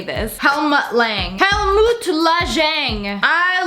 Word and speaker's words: Helmut Lang: So I got a helmet. I don't even know how to say this. Helmut Lang.